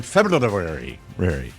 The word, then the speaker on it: February: in my humble opinion February uh always do you ever throw the r in there do you ever throw